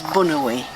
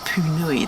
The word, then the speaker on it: Punui: So it's the local Maori name is Bunui. But if you work for the Department of Conservation and come from the North Island, you call it Punui.